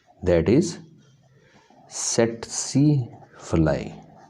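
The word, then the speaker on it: tsetse: तो ये मोस्टली एक फ्लाई के ज़रिए ह्यूमन बॉडी में पहुंचता है, that is सेटसी फ्लाई। सेटसी, first T इसमें साइलेंट है जी, सेकंड आपकी तलफ़ुज़ में आना चाहिए, सेटसी फ्लाई।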